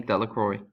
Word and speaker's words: Delacroix: Harry Jones and Dicky Delacroix the villagers pronounced his name Delacroix eventually made a great